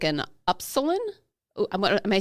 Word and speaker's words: upsilon: And what that means is it's shaped like an upsilon. Am I saying that wrong? What is that the E-P-I? No, it's the Greek letter. It's the Greek U in the alphabet. Is it epsilon?